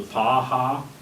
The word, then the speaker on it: Paha: 40 acres of ground, which is called the PAHA, How do you spell that?